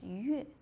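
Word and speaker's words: 乐: Oh, le. Kuàilè. Le, happy, joy. Oh, there's another pronunciation is yuè, that is music.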